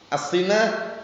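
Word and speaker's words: السِّنَة: apa mukadimat naum ngantuk asinah itu bacanya bukan asunah loh ya enggak ada harakatnya itu atat asunah keliruanti asinah asinah itu ngantuk e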